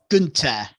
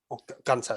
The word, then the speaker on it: Gunther: But literally, he super kicked Gunther, sorry. Gunther. And he was down. Gunther, it's pronounced Gunther.